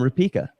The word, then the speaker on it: Rupeka: But don't do that right now because we've got a very special cop blocker on the line named Rupa. Did I pronounce that correctly?